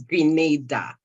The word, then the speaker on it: Grenada: if I do not correct the pronunciation of the country's name is Grenada thank you all right